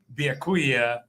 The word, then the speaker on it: Byakuya: Are you excited to play Byakuya Yeah, I said it right.